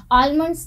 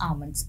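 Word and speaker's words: almonds: Okay, यहाँ पर ये जो एल है इसको आपको प्रोनाउंस नहीं करना है, आलमंड्स नहीं बोलना है, आप बोलेंगे आलमंड्स।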